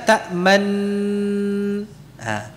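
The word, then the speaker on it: تأمنا: Kita membacanya dengan memberikan apa? Isyarat, karena hanya isyarat tanpa suara kan? Isyarat mencucu tanpa suara. Ya. Nunnya kan tadi sudah diidghamkan, berarti ta'manuna dibaca ta'man. Nah, ketika memasukkan ta'manna disertai dengan isyarat mencucu.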